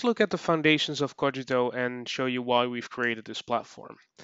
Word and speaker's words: Kogito: so first about cogito about the name it's pronounced kojito it's not kijito it's not kojito it's it's cogito and it comes from a latin phrase cogito